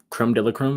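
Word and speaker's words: crème de la crème: Uh, you know, they're supposed to be one of them teams that's like uh creme de la creme.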